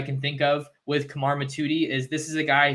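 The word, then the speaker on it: Mothudi: to him the other night that I wasn't pronouncing it right it's not mithuti it's Kamar matuti he's from Valley Village California at Campbell Hall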